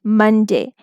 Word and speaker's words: Monday: We will learn about schwa in the upcoming videos, but here remember that in these words, O is not saying it's saying the complete U sound, short U sound.